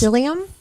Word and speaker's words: psyllium: No, it was Psyllium? psyllium husk. Okay. I will spell it for you.